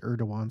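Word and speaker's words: Erdoğan: Recep Erdogan. I think it's pronounced Erdogan. Someone corrected me. You guys are always anxious to do that, Erdogan.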